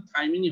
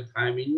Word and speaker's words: thymine: তো এই থাইমিনের উচ্চারণ কিন্তু থাইমিনই হবে, থায়ামিন না, কারণ থায়ামিন একটা ভিটামিন, তখন বানানটা অন্যরকম হবে।